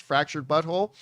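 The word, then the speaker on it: The Fractured But Whole: it's actually fractured but whole w-h-o-l-e but it's pronounced fractured butthole and uh what was it the stick of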